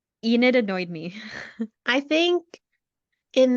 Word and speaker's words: Enid: think um how do you say her name Ina Enid Enid okay sorry Enid um I think she's